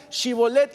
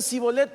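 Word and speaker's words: Shibboleth: Jordán no sabían hablar no sabían pronunciar chibolet y decían sibolet por qué porque no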